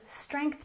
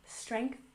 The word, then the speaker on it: strength: And strength training. Don't forget to put your tongue between your teeth for the TH sound. Strength, strength, training.